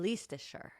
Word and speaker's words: Leicestershire: Sorry, ignore the I, and then pronounce it like you did then. Leicestershire.